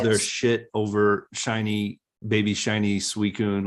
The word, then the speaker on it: Suicune: it suicide my entire life i was like suicide yeah and then i randomly heard jake pokeynomics say like suicune and i was like huh it's like i